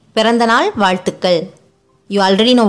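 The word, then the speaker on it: பிறந்தநாள்: For happy birthday, you say Pirandanal vaazhthukkal. You already know vaazhthukkal. For Pirandanal, P, a short sound letter. Ra, a short sound letter. You say it with a stress.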